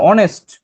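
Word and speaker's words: honest: যেমন দেখো এই যে আওয়ার, তো এখানে এইচ উচ্চারণ হইতেছে আ, এখানেও কি আ। আবার এখানে অনেস্ট, এখানে উচ্চারণ হইতেছে অ।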